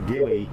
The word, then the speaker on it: Gilly: short forget it sure Gilly short for Gilbert and it rhymes with chili so that's kind of